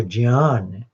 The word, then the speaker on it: ज्ञान: तो ये थोड़ा विषय परिवर्तन हुआ, लेकिन मैं बताना चाह रहा था कि ये शब्द है जो ज्ञान, इसका सही उच्चारण है जी ज और य, ज्ञान, यज्ञ। इतनी तो हो गई, पर बोलचाल में भारत में आजकल ज्ञान वैज्ञानिक बोलते हैं, ऐसे बोलते हैं।